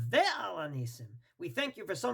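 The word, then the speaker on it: ועל הניסים: Therefore, the proper way to say it is with the Vav, Ve'al HaNisim.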